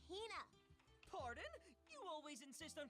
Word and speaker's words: Hina: You keep saying it wrong. It's Hina.